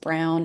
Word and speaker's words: Braun: and it is pronounced Brown and Clark always has an E, but Brown